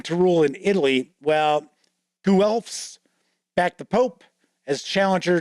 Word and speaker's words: Guelphs: The Ghibellines align with the Hohenstaufen dynasty, clinging to rule in Italy, while Guelphs back the Pope as challenger to imperial authority. Yes, and that is how those are pronounced.